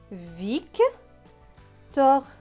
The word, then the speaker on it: Victor: V avec IC. IC se prononce ic. Donc V et ic, vic. T avec OR. OR c'est or, donc T et or, tor. Donc ce mot va se lire Vic, tor.